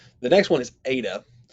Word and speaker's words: eta: the next one is eta eta looks like an n don't get confused ada is pronounced like the e in obey i just think of